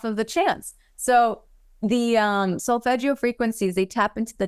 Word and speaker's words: solfeggio: It's called solfeggio, and it's SOLFEGGIO. Solfeggio. Okay. It's solfege.